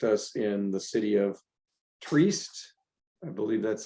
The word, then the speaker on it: Trieste: And in fact, our Italian and Slovenia compadres are willing to host us in the city of Trieste. I believe that's how you pronounce that. Trieste.